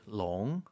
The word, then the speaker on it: long: to top this off even though it's not called l in Chinese it's called it's called long long l o n g official yes and if you were anyone in English to read l o o n NG G would be l no one's going to say long it's looks like L